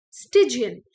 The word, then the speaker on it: stygian: have for today is stigian the word is pronounced as stygian so you can think of something like a